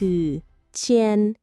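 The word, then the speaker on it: 千: เลย ได้ เลย คำ ว่า พัน ใน ภาษา จีน คือ เชียน อีก ครั้ง นะ เชียน ไหน ตาต้า ลอง ออก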